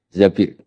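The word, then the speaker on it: زبير: di hadis ini bukan bacanya bukan Zubair tapi Zabir Abdurrahman Bin Zabir tapi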